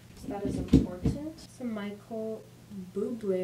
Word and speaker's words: Bublé: Some Michael Bublé, apparently pronounced his name. I thought it was Bubbly, but that's fine.